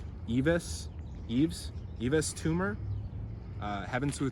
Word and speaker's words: Yves Tumor: I think it's Eve. It's French, you don't pronounce the S. Is it Yves Tumor? Sounds a little scary, honestly. Eves.